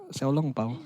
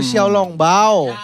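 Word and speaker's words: 小笼包: Xiaolong Pao. Oh itu bahasa Cinanya pangsit. Iya kayak dimsum. Oh, Xiaolong Bao. Iya. Gue tahu tulisannya, tapi gue tahu cara bacanya Pau tuh ternyata itu.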